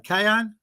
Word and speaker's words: Kanye: I mean, and she can buy Kanye West, or how you pronounce that right? Kanye?